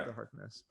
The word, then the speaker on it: Agatha Harkness: Yeah, Agatha Harkness.